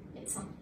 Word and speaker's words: médecin: Mais de sein. Et ben dites-le vite à l'intérieur d'une phrase et vous verrez que le D devient T. Médecin.